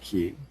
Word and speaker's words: chi: is merely a fluke the Greek letter key pronounced key looks like the Western